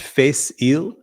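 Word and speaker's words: Fèis Ìle: It is pronounced Face Ile, apparently.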